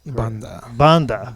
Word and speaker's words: Banda: But George Banda. Banda. Yes. Okay. That's always how usually this podcast starts. Is I try and accurately pronounce the guy's name.